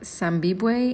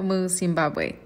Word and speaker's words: Zimbabwe: saying it right but i said zambibue and that is completely not the case it's zimbabwe okay let's continue from